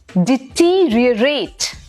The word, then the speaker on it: deteriorate: अब देखो इसकी जो स्पेलिंग है ना, हम बिल्कुल वही साउंड फॉलो करेंगे। DETERIORATE, डिटीरियरेट। Each and every sound of the letter would come.